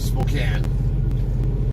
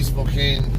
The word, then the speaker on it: Spokane: Yeah, I know everyone calls it Spokane, but I know how to spell and I know linguistics, so it's supposed to be Spokane the way it's spelled.